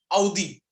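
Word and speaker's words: Audi: जैसे ऑडी कार सभी ने देखा होगा, पर वो ऑडी नहीं, आउडी। एक्चुअल प्रोनाउंसिएशन उसकी आउडी या आउडी ऐसा बोलते हैं वो लोग, पर हम ऑडी कर देते हैं, चलता है।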